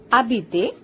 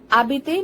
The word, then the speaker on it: habiter: Habiter. Habiter means to live, like to stay at a particular place, to describe the location, to live. Now here H is silent, it is not pronounced. Habiter. Habiter means to live.